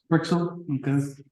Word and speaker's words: Freixel: Is that how you pronounce? Freixel, okay.